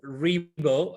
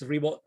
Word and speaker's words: Ribo: My name is Ribo. Last name is Ribo, spelled like R-I-B as in boy, O.